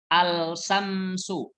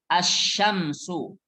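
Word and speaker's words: الشمس: as Syamsu ha Syamsu bukan bacanya Al Samsu Al Syamsu bukan ini salah tapi as Syamsu langsung masuk ke huruf Sin langsung masuk ke huruf Sin karena ini termasuk huruf Syamsiah artinya matahari as Syamsu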